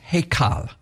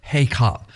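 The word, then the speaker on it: היכל: one of them is heal and you could I'm just phonetically h y k a l if you will heal all right that word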